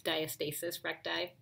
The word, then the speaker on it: diastasis recti: a diastasis recti or either way people like to pronounce this is diastasis um I think about that for a moment because I've corrected myself as my OB told me it's diastasis recti and that's the separation